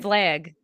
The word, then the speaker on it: flag: Flag. Well, now, okay. Yeah, now you're saying it. Pledge allegiance to the flag. Yeah, I say it flag, like a flat A.